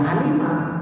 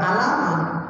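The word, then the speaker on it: عَلِمَ: Oh, orang Arab ketika ngomong alima, ya alima, bukan alama, bukan aluma, bukan.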